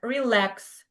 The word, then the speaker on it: relax: Like for example, like for example in the words like relax. So we pronounce lex the second syllable is stressed.